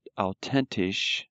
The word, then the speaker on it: authentisch: Now, this little sentence here, besonders authentisch. Remember the TH is pronounced like a T.